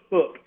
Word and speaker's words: Huk: Our brand name, it is spelled H-U-K, which is the phonetic pronunciation of the word hook. Okay, that's what I wondered. So it's not pronounced hook, it's hook.